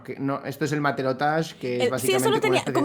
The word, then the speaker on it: matelotage: Bueno, que no, esto es el matelotage, que es Sí, eso lo básicamente como una tenía.